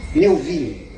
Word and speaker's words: Melville: Como é que se pronuncia? Melville.